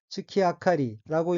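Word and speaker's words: 月明かり: 다음 어는 한자가 월등이고 각각 달월 등잔 등자이고 일본어로는 츠키 아카리라고 읽으며 여기서 츠키 아카리는 달빛이란 의미를 문학적으로 표현한 것입니다.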